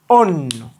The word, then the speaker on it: অন্য: ও আর দন্ত ন, অন, নকারে নো, অন্য। তাহলে দেখো তো এইটা সঠিক উচ্চারণ হবে এইটা, অন্য।